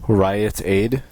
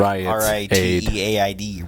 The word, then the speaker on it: Rite Aid: Riot Aid? Rite Aid. It's like Riteaid. Rite Aid. Yeah, well, I don't. It's two I don't words. speak. It's 2 syllables.